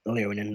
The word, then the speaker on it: Leonin: I can never pronounce their names. Leonin. Leonin, that's it.